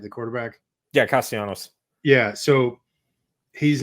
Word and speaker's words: Castellanos: Yeah, Castellanos.